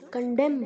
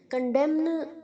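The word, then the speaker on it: condemn: कंडेम्स, कंडेमिंग, एन नहीं बोलना है बच्चों, कंडेम बोलना है, कंडेम्न नहीं बोलना है, न नहीं आना चाहिए, कंडेम, कंडेम्ड, कंडेम्ड, कंडेम्स, कंडेमिंग, कंडेमिंग, okay, कंडेमिंग। और अगर कंडेम बोलना है तो कंडेम, एन साइलेंट है, ओके।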